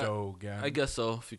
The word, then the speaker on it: ErDogan: Well, ErDogan has 3 syllables, so Yeah, ErDogan.